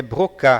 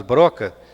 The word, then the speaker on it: Broca: Essa palavra, esse esse nome pronunciado em francês é brocá, porque se nós falarmos broca fica uma pronúncia muito estranha.